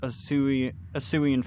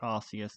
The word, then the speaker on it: Arceus: Because nobody's going to call it Arceus because it's pronounced Arceus. They just changed it because it sounded too much like ass.